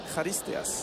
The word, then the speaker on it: Charisteas: C'est un peu la même prononciation que Charisteas, puisque chez les Grecs, on dit Charisteas.